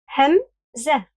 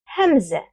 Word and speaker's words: همزة: Hamzah. Hamzah. To pronounce it, try saying Adam, Adam. And pay attention to the catch in your throat as you pronounce the first letter.